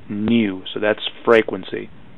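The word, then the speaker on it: nu: a tail on it it's a Greek letter and it's pronounced new so that's frequency how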